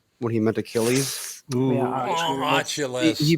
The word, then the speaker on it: Achilles: it was the guy who said mythological hero Ailes when he meant Achilles AES pronouncing it wrong they said nope you don't